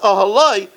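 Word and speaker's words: אהלה: But in the night, there was this fusion, vayet ahalah, it was with a hey, but it's pronounced ahaloi because he slept with her.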